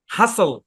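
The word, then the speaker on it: hustle: আচ্ছা তারপর দেখেন আরেকটা এইচ ইউ এস টি এল ই এখানে টি টা সাইলেন্ট হাসল এ শব্দের উচ্চারণ কি হাসল হ্যাঁ হাসল হাসল হাসল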